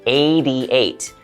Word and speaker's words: 88: like a N9 but native English speakers usually will pronounce hard T sounds in the middle of a word like a d sound like 88 90 20 okay so